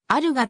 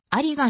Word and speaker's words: 有賀: 多い姓であるあり川ありがではなくあるがと読む例が多いが当人は相手が聞き返すことを嫌いありがの読み方で通した軍帽蔵の